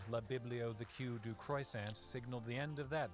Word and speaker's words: croissant: And croissant. I know everybody says croissant because they think that we pronounce everything in French. But no, we don't. The last T is silent.